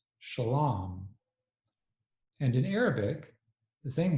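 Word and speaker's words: שלם: In Aramaic, the same word is pronounced shalam.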